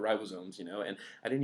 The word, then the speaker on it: ribosomes: acids and like rival I used to call them rival sums and they were called ribosomes you know and I